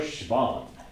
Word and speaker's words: Schwann: Matthias Schleiden and Theodor Schwann. That's how you pronounce it.